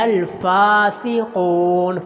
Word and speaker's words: الفاسقون: لمبا کرنا ہے۔ الا الفاسقون، فا کے اوپر کھڑی زبر ہے، صرف فا کو لمبا کرنا ہے، قاف کو لمبا